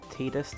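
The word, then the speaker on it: Tidus: right there he is Titus or tightest depends how you want to pronounce it a bit of explore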